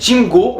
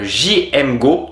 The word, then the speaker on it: JMGO: Alors, c'est Jim Go ou alors on peut prononcer JM Go tout simplement.